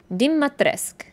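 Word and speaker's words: Dimitrescu: blood and death apparently her last name is pronounced Dimas Dima tresk dim matresque which looks nothing like the spelling yeah there's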